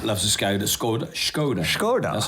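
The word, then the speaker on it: Skoda: Scoda.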